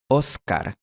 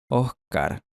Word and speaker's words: Óscar: o de Guayaquil, Ecuador, los dos sonidos son la misma cosa en la palabra Oscar. Escucha de nuevo. Oscar, Oscar, Oscar, Oscar.